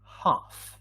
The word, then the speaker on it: half: and they are right we don't pronounce the l in the word half yes the same happens in